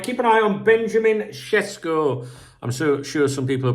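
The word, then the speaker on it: Šeško: some people pronounce it cesco you know me Jack Daniels John Smith I a't got a clue but I think in his native language it's pronounced like that all right guys take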